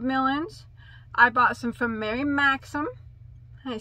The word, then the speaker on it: Mary Maxim: I bought some from Mary Maxim. I said it right. I usually say Mary Maxim and Hirshner's.